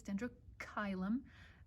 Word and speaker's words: Dendrochilum: Many people pronounce this dendrochilum, just so you know, it's dendrochilum. A lot of times, almost always in Latin, that CH in the middle of the word is a K and not a Ch, just so you know.